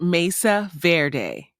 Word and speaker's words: Mesa Verde: carved in stone wordwise Mesa Verde is pronounced Mesa Verde Mesa which is Spanish for table also refers to raised flat topped land Verde is Spanish for green paleoamericans to understand the